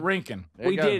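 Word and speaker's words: Rincon: It's like Lincoln but Rink. Rink. We did it. Yeah. Like Rink Park and Lincoln Park.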